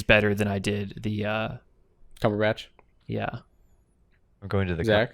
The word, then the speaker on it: Cumberbatch: Cumberbund or why did you say his name like that? What does that because mean? It's so fun because his name's so Cumberbatch. Cumberbatch, yeah.